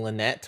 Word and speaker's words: Lynette: or l lyette i I know like the correct way to pronounce it is Linny and Lynette but I kind of like liony and Linette I don't know why it just sounds better to me though probably flip block